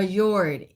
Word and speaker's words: fjord: H our next question is now somebody's okay okay here's our next question okay is pronounced is fjord is pronounced Ford for Yord in Sweden, Norway.